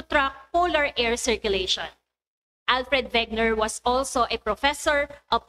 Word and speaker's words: Wegener: since he is a german his surname is pronounced as wegner can you repeat it can you say vagner right good job so alfred wegner is expert